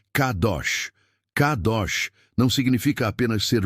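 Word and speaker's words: קדוש: No original hebraico, a raiz dessa palavra é kadash, da qual vem kadosh, e a pronúncia que usaremos é kadosh.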